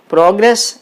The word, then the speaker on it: progress: and grace pro grace progress is a noun so the stress is on the first syllable that means the stress